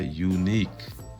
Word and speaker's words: unique: long sounding letters indicators use sounds like you and e sounds like e we put it together unique no this is a word